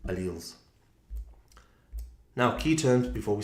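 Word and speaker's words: alleles: different versions of genes are called alals. If you want to call them alles, you can but cuz it doesn't make a difference as long as you can write it correctly. But the British pronunciation is alles.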